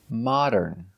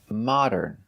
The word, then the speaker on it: modern: Modern. Modern. So it's not correct to say this. They're modern and cool. That's right, we cannot say modern, mo. It's not the long O, mo.